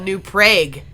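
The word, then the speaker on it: New Prague: from a town that's called new prag I'm serious that's how they pronounce it and they are actually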